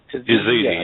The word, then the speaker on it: Yazidi: I just don't know how to pronounce that. Yazidi, yeah.